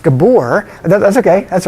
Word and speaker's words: Gabor: That word is pronounced Gabor. That's okay, that's right. It's a Hungarian pronunciation.